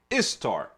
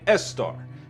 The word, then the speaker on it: Ishtar: known as ostara and ishtar of babylon even some aramaic speakers could not properly pronounce the sheen in ishtar and they rendered it istar and estar it's very important to